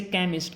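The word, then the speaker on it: chemist: language होती है okay जैसे केमिस्ट केमिस्ट में साउंड किस चीज की आती है वहां पे क की आते है लेकिन जो स्पेलिंग होती है आपकी सीच आती है स्पेलिंग में लेकिन वहां पे हमें क को डिनोट करना है ना कि सीच को क्लियर जे आपका आएगा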